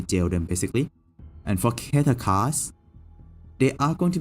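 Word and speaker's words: Keter: Pronunciation. Let me see. Keta.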